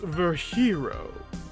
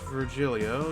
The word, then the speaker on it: Virgilio: It's pronounced Verhero. No, I'm pretty sure it's Virgilio.